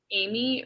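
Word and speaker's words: Aimee: fashion partnerships amy song amy rhymes with mommy song was born on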